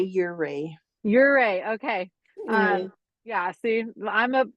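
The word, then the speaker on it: Ouray: How do you pronounce it? What's the Ure? We say Ure.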